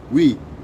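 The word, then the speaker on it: oui: spell it it's o-u-i we and it's not pronounced the way you think you're spelling is who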